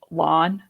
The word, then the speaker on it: Lan: And then this one gets people really mad, but it's lawn, not land.